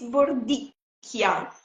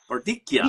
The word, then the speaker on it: Bordicchia: It's Bordikia. Bordikia. Because Bordikia. Yes. because we don't have u the K the in Italian in in the alphabet we don't use the